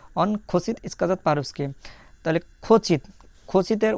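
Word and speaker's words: хочет: তাহলে খচিত, খচিতের উচ্চারণটা কেমন হবে? প্রথম অক্ষর খ, তারপরে ও, খ, তারপরে দেখা যাচ্ছে চ এর মতন চ, এ তে, চেত, খ চেত।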